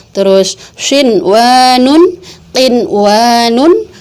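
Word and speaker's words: قِنْوَانٌ: Enggak kita baca duya, enggak kita baca siwanun, enggak kita baca qiwanun, enggak kita baca buyanun, tapi tetap dibacanya dun ya, terus shin wa nun, qin wa nun, bun ya nun.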